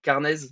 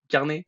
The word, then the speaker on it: Carnez: nouvel épisode de rookies avec alors j'espère je prononce bien carnaise c'est ça carnet ouais carnet carnet carnet pardon excuse-moi bon carnet